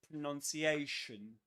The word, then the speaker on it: pronunciation: So we say pronounce pronounce and pronunciation pronunciation. And something else, another curiosity about pronunciation is that pronunciation is a double stressed word, which means that there are two accents, two accented syllables.